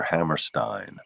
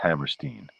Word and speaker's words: Hammerstein: Mila says she always pronounced it Steen. I think that's right, Hammerstein.